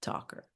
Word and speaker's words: Tocher: finally learned that uh my last name is pronounced talker and she thought it was to Well, I mean it's and like adds kindness, right?